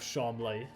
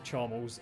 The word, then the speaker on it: Charmles: his name as well three different pronunciations of his name he calls himself chaml the poshest one neutral one is charmal and then the people that don't like him charmless I do love that